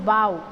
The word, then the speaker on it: bow: it is pronounced as bow, bow, bowed, okay, OU sound. But when it is about this knot or this tie, then it is bow, then it gives the sound of O.